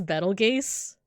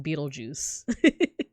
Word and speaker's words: Betelgeuse: So, I pronounce this Betelgeuse, but apparently it's actually pronounced Beetlejuice.